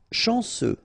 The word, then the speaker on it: chanceux: Chanceux, final X not pronounced, this C-E-U, ce, chanceux, chanceux.